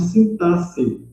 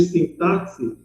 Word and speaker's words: sintaxe: é a parte de sintaxe, tá? E aí a pronúncia é essa mesmo, a gente acostumou ouvir sintaxe, né, porque é com X, mas no final a pronúncia correta é sintaxe, que é a parte